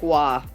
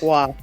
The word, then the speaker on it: Roy: against Winnipeg Jets at The Forum it's Patrick Wah I know for some reason Roy is percent uh pronounced yeah that's Patrick Wah yeah it's Patrick Wah it's one of the best goalies of all